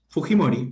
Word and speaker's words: Fujimori: Roberto Helbert Sánchez Palomino tiene 9,5493 y doña Keiko Sofía, perdón, es Fujimori o Fujimori, ¿cómo pronuncian ustedes en Perú? De hecho, Fujimori.